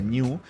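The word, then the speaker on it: GNU: de género es ese de hecho género se pronuncia new y la mascota de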